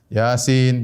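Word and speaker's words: يس: Toha, yasin, ya. Dan ini banyak dalam Al-Quran, ya. Seperti Toha, ya. Kemudian apa? Yasin. Dibacanya bukan toh, dibacanya bukan yes atau yes, bukan.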